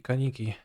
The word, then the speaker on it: Kaneki: Is Kaneki pronounced Kaniki or Kaniki? Kaniki.